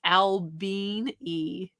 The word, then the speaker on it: Albany: We have an Albany in Georgia, and it's pronounced Albini. Albini.